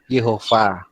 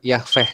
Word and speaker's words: Yahweh: Jadi ini bukan sirih tapi ini diganti dengan hamat, jadi dibaca Yah, gitu ya. Terus ini bukan dipakai kamat tetapi pakai sere, jadi dibaca Yahweh gitu ya, Yahweh.